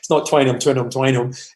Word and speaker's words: Twineham: twice, they only named Twineham once. I know you were searching for the pronunciation, but it's not Twineham. It's just Twineham.